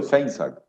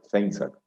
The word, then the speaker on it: Feinzaig: Y el apellido Feinsack, yo lo que hago es no leer la última I para que sea más fácil de pronunciar, Feinsack.